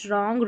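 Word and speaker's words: wrong: चलिए नंबर 31 पर है WR, इसको र पढ़ेंगे, यहाँ पर WR में भी W साइलेंट है इसलिए र पढ़ा है क्योंकि R का उच्चारण हो रहा है। राइट, रॉन्ग, रिस्ट और रैप, W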